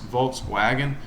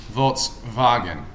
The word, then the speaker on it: Volkswagen: supposed to be pronounced volkswagen um because the w in german makes the v sound so it's actually volts wagon so i don't know